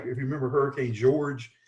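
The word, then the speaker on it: Georges: Like if you remember Hurricane George, it had a pronunciation a little bit different. It was spelled like George's, but it was that was a flood event.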